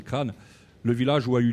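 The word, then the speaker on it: Craonne: Alors, j'ai rencontré il y a quelques années le maire de Crane, qui on dit Craon, pour ceux qui ne connaissent pas, mais à force d'y aller, il m'a appris à prononcer, c'est Crane.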